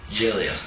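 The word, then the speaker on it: Gelia: How do you pronounce that? Giglia. Giglia?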